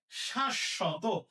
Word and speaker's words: শাশ্বত: আচ্ছা এরপরে শাশ্বত। এখানে তালব্যস্যার সাথে বফলা আছে, তাহলে তালব্যস্যা দুইটা হবে, তাহলে উচ্চারণ কি হবে? উচ্চারণ হবে শ্বাস শত, শাশ্বত, শাশ্বত।